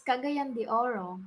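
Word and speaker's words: Cagayan de Oro: do you say it you say it it's kagayandi oro kagiyandi orio so yeah you know the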